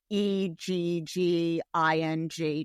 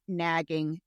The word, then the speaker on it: negging: I don't think they'll remember the last time we explained negging, which is spelled Negging, not nagging, negging.